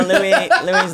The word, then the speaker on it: Louis: Well, it's spelled L-O-U-I-S, which I think is the French. It's Louis.